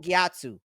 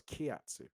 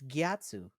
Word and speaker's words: Gyatso: defending those little kids can you say his name one more time for me gatu gatu yeah with a G gatu yes is that how you say it thought it was KATU it's gatu are you sure I'm